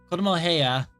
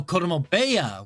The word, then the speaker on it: 子供部屋: Kodomo heya. 子供部屋、 Oh, Kodomo beya. Wait a minute. Beya.